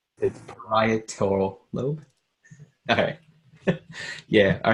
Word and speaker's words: parietal: It's parietal lobe. Okay. Yeah. All right. Good. I'll not be able to pronounce that still.